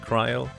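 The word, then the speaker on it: Krile: By the way, I usually tend to say car instead of Cryle, partially because I'm used to the fan translation,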